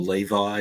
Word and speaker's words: Levy: dog making noises before Eugene Levy I think is in them or Levi if you want to pronounce it that way or Levy Larry David no I don't